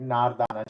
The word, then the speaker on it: Nardana: is with Nardana chutney, which is Nardana chutney, but we pronounce it Nardana chutney, which is a dried pomegranate, and it is very tangy.